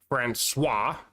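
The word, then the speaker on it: François: Franuis, it's got a little funny mark underneath the sea, so it's pronounced swah.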